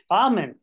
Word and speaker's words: Ahmen: say your last name is it hen amen amen thank you so much today we're gonna be